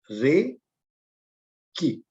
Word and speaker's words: Reiki: रे की, universal life force, pronounced as ए रे की।